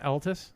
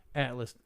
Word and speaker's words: Atlas: what is the is it Altus? Am I pronouncing it right? Atlas? Atlas.